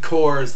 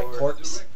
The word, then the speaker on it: Corps: and then then then Coors like like Marine Corps not like like Center my corpse yeah but like actually